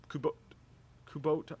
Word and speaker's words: Kubota: Kubota.